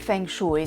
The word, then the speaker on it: Feng Shui: Il Feng Shui, la cui pronuncia corretta dovrebbe essere Feng Shui, è una disciplina antica, profonda e affascinante.